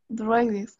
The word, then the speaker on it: dreaded: Dreaded.